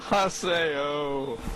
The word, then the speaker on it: Haseo: No, Haseo. Oh, Sao, that's how you say it.